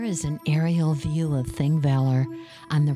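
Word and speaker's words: Þingvellir: The Icelandic word Thingvellir is formed with an ancient letter called the thorn and is pronounced like the English th, as in the.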